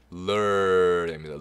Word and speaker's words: mirror: mirror 오가 어 발음 나요. mirror 강세가 여기 있기 때문에 여기를 좀 강하게 읽으시고요. 뒤는 좀 슬쩍 흘리듯이 mirror 약간 하면 mirror도 아니고 mirror 약간 이렇게 발음하게 mirror 거울.